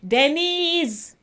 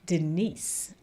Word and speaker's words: Denise: and by the way some people when they're pronouncing my name they say Denise but my name doesn't have a z in it it's spelled D n i s e Denise uhhuh so just saying